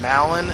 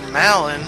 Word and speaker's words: Malon: Anyway, he runs off, and the reason why I'm like 90% sure you pronounce his daughter's name Malin and not Malin is because his name is Talon, not Talon or Talon. So it's gotta be Talon. So I assume they named her Malin because it rhymes with Talon.